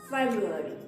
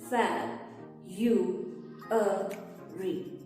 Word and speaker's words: February: Many people have trouble pronouncing English words which have two R sounds close together. Make sure to pronounce both R sounds. Feb, ru, re. Not fab, re. The correct pronunciation is February. For example, the February air was cool and soft.